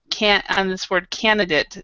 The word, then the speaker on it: candidate: So if you don't remember anything else about that, remember that the last on this word candidate, it isn't date here. It's candidate.